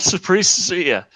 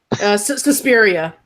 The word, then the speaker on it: Suspiria: this so they know they'll ruin it not Supriya Suspiria the spirit yeah yeah I read I know I can pronounce offical pronounced afect I know words I